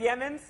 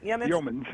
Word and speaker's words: Yeomans: Pronounce it. Yeamans? Yeomans.